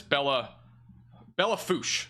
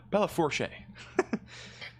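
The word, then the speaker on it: Belle Fourche: The closest area is Bella Fouche. Oh, there we go. Bella Fouche. I was trying to say it like French. Bella Fourche.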